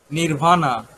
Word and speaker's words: নির্বাণ: Nirvana, nirvana. In Bangla, But- nirvan. In Bangla, sir. nirvan. In Sanskrit language, nirvana.